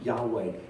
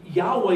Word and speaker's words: Yahweh: do you pronounce that it's not really a pronounceable word it's more like a breath it's more like there's